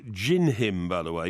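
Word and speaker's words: Dindim: but din-dim uh wasn't having it so it's pronounced Jin him by the way not dined him Jin him because it's Portuguese all right it's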